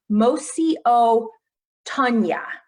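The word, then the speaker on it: Mosi-oa-Tunya: So local people call Victoria Falls, and I'm going to do my best to pronounce this, Mosi o Tunya.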